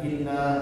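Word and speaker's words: إِنَّا: empat sampai 5 harakat dan nunnya tadi ditahan ya dengan Inna langsung kecuali kita baca dengan cepat in tapi kalau untuk mentaktilkan Ya ditahan itulah bedanya dengan huruf-huruf yang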